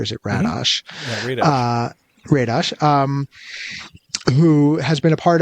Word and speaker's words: Radosh: with, humor writer Daniel Radosh, who, am I pronouncing that right, or is it Radosh? Mm-hmm. Yeah, Radosh, who has been a part of a couple of things.